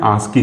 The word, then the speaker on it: ASCII: इसका जो प्रोनाउंसिएशन होता है उसको क्या कहते हैं, आस्की कोड कहते हैं, ठीक।